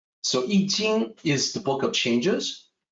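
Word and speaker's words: I Ching: i know a lot of people will say iching or iching uh actually it's in and the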